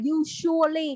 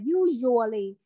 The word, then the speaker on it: usually: Còn khi mà nói với cái chữ usually, ở đây các con sẽ không có đọc là usually, không phải là S đâu, mà là usually. Cái âm J của mình á.